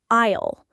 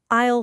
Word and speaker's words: aisle: Yes, and you don't pronounce the S. You say aisle, like aisle 3.